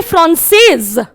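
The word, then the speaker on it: française: यहां पर जब हमने कोई भी वॉवल नहीं था, एंड में सिर्फ एक कॉन्सोनेंट था, तो हमने फ्रांसे बोला, हमने एस का प्रोनाउंसिएशन नहीं किया। लेकिन यहां एस के पीछे ई था, एक वॉवल था, तो हमने बोला फ्रांसेज।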